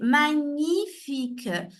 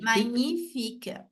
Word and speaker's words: magnifique: a fait Miguel mais la prononciation de ce mot c'est magnifique comme si c'était le GN c'est ce lit comme si c'était un NH en portugais donc magnnifique magnifique et ici cet après-midi nous